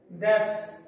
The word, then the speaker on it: debts: इसमें जो डी है, ये बी है वो साइलेंट है, इसलिए इसकी साउंड है debts।